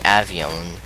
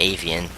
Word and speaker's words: Avion: is this one the the Avion or the Avion you can pronounce that whatever way you want but I call it the avian so because that's another word for bird so yeah and this